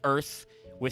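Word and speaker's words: Aerith: There are cases where like everybody universally accepts the the correct the corrected uh localization which is Aerys vith. Like some people are still dieards, but it's become very clear that her name is just Earth with some extra syllables cuz it's Japanese.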